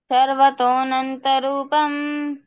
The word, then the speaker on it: सर्वतोऽनन्तरूपम्: सर्वतोऽनन्तरूपम्। तो जब हम श्लोक का उच्चारण करते हैं तो ऐसा अवग्रह आ जाता